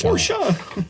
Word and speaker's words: Porsche: got to tease me pors or pora pora come on hey it's pora I got one for